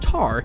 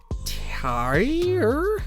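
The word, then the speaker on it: Tár: Yes, my number 12 film is in fact pronounced Tar, not Tar.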